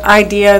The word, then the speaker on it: IDEA: IDE a and not that's often the acronym that's used or it might be pronounced idea but just in case somebody wanted to to look that up or better understand that it's IDE a thank you mr.